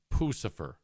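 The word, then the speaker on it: Puscifer: Now, according to this, it's Pucifer. Pucifer.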